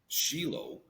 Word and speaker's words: Shiloh: I've always called that place Shiloh. Now, you are in Israel. How do they pronounce it in Israel?